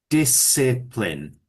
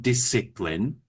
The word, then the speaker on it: discipline: Discipline. So, it's a soft I each time. Discipline.